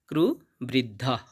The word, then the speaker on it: কুরুবৃদ্ধঃ: এরপর আছে ক্রু বৃদ্ধ এখানে শব্দের শেষে একটা বিসর্গ থাকার কারণে আমরা অর্ধেক হ এর মত সাউন্ড আনবো ক্রু বৃদ্ধাহ এবং শেষে আছে পিতামহ